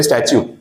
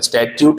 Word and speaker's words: statute: अब हम बात करते हैं वर्ड पे स्टैच्यू। बार-बार तो स्टचू का स्पेलिंग देख लेना। ठीक है? एस टी ए टी यू टी E that is स्टच्यू। Last वाला टी प्रोनाउंस नहीं होता है। स्टच्यूट नहीं है।